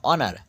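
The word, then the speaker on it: honour: দেখো আওয়ার আওয়ার না অনার এইচ ও এন ও ইউ আর এইচ দিয়ে উচ্চারণ এইচ দিয়ে প্রথম শুরু হচ্ছে এইচ এর উচ্চারণটা কিন্তু এখানে নেই তারপরের থেকে শুরু হচ্ছে অনার অর্থাৎ সম্মান এইচ ও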